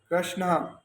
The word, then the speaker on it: कृष्ण: प्रभु का नाम है कृष्ण, श्री कृष्ण शरणम मम, ये प्रभु का नाम है। और हम अक्सर गलत उच्चारण करते हैं।